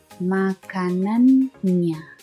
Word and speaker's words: makanannya: Makanannya. Double N, so you pronounce the N twice. Makanannya.